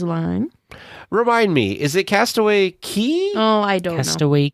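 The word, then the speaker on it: Castaway Cay: remind me is it Castaway Key oh I don't Cast Away keyse pronounced key which is funny because it says it looks like it's K yeah Castaway key so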